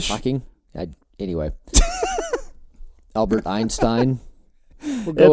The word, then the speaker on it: Hawking: But am I ever going to be like Stephen Hawking? Stephen Hawking?